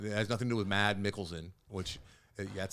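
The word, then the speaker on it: Mads Mikkelsen: nothing to do with mad mikkelson which that's how you pronounce mad is that you don't pronounce the S mad's Mickelson but I don't like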